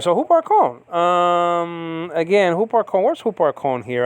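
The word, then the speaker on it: ὑπάρχων: Huparkon is spelled out Upsilon with the rough reading, so it's Hu, and then you got the P.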